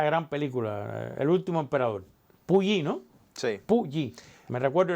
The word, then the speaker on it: Puyi: El nombre, Puyi, ¿no?